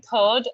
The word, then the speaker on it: third: In third, we don't really use the r sound. We say third and the r is not pronounced.